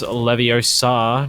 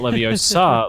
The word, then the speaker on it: Leviosa: It's Leviosa, not Leviosa, ladies and gentlemen, as he does get 2 kills as Pear will return the favour onto Maui, and a second.